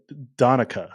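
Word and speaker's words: Donnecke: Donica is what she said. She said if you're going to say it American English, it's Donica.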